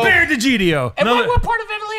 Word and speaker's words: D'Egidio: It's Bear DiGiorno.